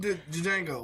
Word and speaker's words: Django: Steve from Django. Motherfucker, the D is silent.